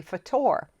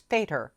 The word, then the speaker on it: Fator: how to say it i thought he was terry fatore turns out though it's fader rhymes with tater which is exactly what